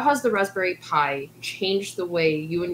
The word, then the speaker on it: Pi: Pi that's interesting is the Pi in Raspberry Pi is for Python. Even though it's spelled PI, it's actually like PY for Python.